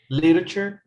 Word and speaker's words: literature: try this again okay literature but the e don't don't pronounce the e just lit pronounce lit lit okay literature literature no i